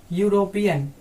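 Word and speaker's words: European: उसके बाद देखिए यहाँ पे यूरोपियन, इसका जो है क्या है प्रोनाउंसिएशन यूरोपियन, तो यूरोपियन जो है आपका य का ई तो है आपका लेटर जो भले ही आपका वोवेल है, लेकिन साउंड क्या निकल के आ रहा, साउंड कॉन्सोनेंट का निकल के आ रहा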